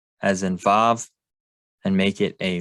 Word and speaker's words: Vav: you can see that they have Wa as the name for the Vav. Some people might say there's no Vav sound in Hebrew, except it's not true.